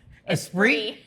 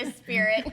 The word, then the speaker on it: Esprit: Esprit? Not a spirit.